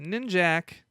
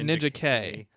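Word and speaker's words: Ninjak: never really understood isn't is it nin jack or ninja K it's spelled ninja K but everybody calls an nin Jack everybody you know that's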